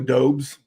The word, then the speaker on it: Doubs: lot of guys in this range, like Romeo Doubs. Am I pronouncing that correctly?